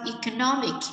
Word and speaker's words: economic: Ở đây là đuôi x sẽ nhấn như sau: economic, trọng âm số 3.